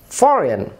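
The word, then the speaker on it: foreign: ফরেন, জি এর উচ্চারণ হচ্ছে না।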